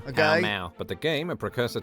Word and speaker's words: Pall Mall: Palamaglio, or Pall Mall, the pronunciation of which can still be heard in London today, when locals pronounce the street name of the same name. Pall Mall.